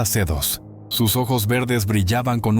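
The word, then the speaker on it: C.C.: Entre gritos, disparos y el estruendo de las máquinas de guerra, descubrió a una joven misteriosa, CC, pronunciada C2.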